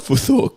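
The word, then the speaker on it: futhork: right anyway good luck next one uh foot spell it foor which is f u t h o r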